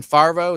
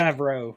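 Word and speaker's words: Favreau: it was explained by John farvo is how you pronounce his name favro yeah favro I always screw that up uh what that weapon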